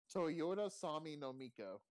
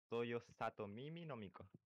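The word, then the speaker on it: Toyosatomimi no Miko: Oh, it's Toyoto Sami no Miko. Hold on, let me see how it's called. It's called Toyosato Mimi no Miko.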